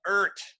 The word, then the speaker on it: Eart: We are going to start this game right shortly in the world of Ert. That's E-A-R-T. And that's right. This is the planet Ert.